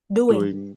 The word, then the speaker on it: doing: Doing. Nah, jadi meskipun dia tulisannya o tapi bacanya gitu ya.